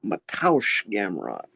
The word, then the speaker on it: Gamrot: Now, I must correct you guys on your pronunciation, because I'm a bit of a Polish name authority around here. The first name is Mateusz Gamrot.